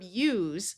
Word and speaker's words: use: Here we have the verb use where s has the z sound. This is different than the noun form of the word use.